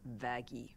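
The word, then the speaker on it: Vaggie: after the best thing ever ah actually it's pronounced vaggy no no oh God no no oh my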